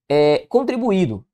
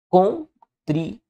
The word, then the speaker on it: contribuído: Contribuído. Contribuído. Veja que esse izinho aqui fica sozinho, ó, formando hiato com a vogal que o antecede nosso gabarito é a letra A.